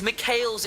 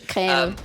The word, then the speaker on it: Mikhail: I love that you call it Michael's blessing. That's great. How is it called? Wait, how is it called? It's Mikhail's is how you pronounce it in English. Mikhail.